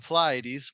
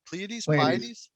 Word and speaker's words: Pleiades: come from the polities wait what was the right way to say it pleiades i said it wrong in two different ways it's okay it has that like ae backwards thing going on that makes it sound weird okay so the pleiades